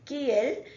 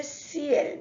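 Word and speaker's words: ciel: c-i-e-l-s-cl means sky so here we are not going to say KL we are going to say CL because it is followed by E it is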